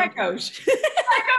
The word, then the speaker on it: Pechous: Pechous.